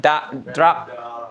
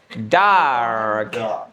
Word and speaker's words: dark: Jadi jangan langsung ke R-nya, jangan drag, jangan drag, tapi dark.